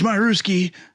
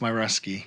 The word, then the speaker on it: Myruski: that Tom new kids marooski yeah it's it's actually for the record it's my rusky my rusty oh see I've been saying it wrong the whole time oh I didn't know